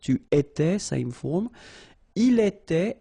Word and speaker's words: il était: Il était, elle était, final T not pronounced.